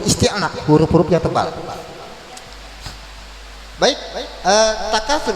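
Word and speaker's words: التكاثر: Baik, takatsur berarti tafkhim, berarti dibacanya tebal, enggak boleh.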